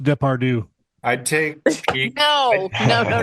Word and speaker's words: Depardieu: pronounced Depardieu.